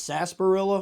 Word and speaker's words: sarsaparilla: I always said it's sarsaparilla, but it could be sarsaparilla. Sarsaparilla? Okay, so the R in sarsaparilla is silent, so I've been saying it right.